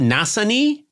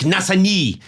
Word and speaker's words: Nassigny: You are talking to us from a region of France, a town called, is it Nassigny?